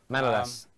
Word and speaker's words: Manolas: how do you pronounce it? Manolas? Yep, Manolas.